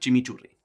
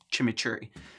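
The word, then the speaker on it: chimichurri: and most people put Chim churi or Chim churi oh god it feels wrong feels wrong to say it like that it's like saying Argentina instead of like Argentina you know it's it's it's weird for me I feel like anyway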